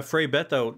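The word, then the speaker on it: Frei Betto: Yeah, you have an anecdote about, I'm going to mispronounce this, but Frei Beto, is that correct? Yeah, Frei Beto was a Brazilian liberation theologian.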